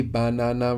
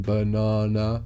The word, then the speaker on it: banana: here just tell them banana is the same word but we will pronounce the vows more clearly banana rather than banana you know you could